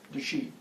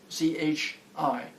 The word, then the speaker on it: chi: I'm bringing chi into my system.